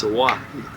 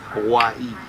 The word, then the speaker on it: Hawaii: And it's Hawaii. Hawaii. They pronounce every vowel.